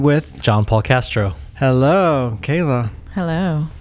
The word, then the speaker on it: Kala: John Paul Castro hello Kayla hello am I saying it right you are yes Kayla I want to like